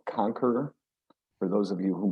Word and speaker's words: Konkeror: he used to play in the band called conquer for those of you who might know it's spelled k-o-n-k-e-r-o-r all right yeah well there's already